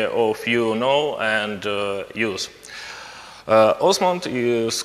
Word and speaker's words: OsmAnd: first the name of our application pronoun we pronounced Osment yeah during this conference I heard other variants but we say Osment okay also the head and as no okay